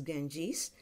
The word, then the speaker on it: Ganges: Ganges is our river Ganga Nadi in English it's pronounced as Ganges what are your associations